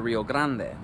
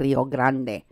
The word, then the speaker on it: Rio Grande: the Rio Grande so that leaves open an entire stretch of